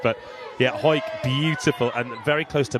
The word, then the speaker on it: Hawick: I think she's from Hawick in the Borders. She is, and you're pronouncing that perfectly well, cuz we had an argument last night. Oh, last night? It looks like Hawick.